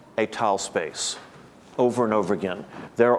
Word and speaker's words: étale: I'm going to write with two accents, and I'm going to say étal space, because he always pronounces it étal space.